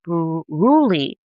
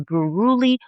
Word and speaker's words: Buruli: it should, and the infection is called a Buruli, a Buruli ulcer, and it's spelled b u r u l i Buruli ulcer.